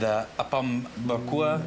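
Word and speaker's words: Apam Berkuah: And Apom Berkua, did I say that right? That's right. Fantastic. I got the pronunciation down.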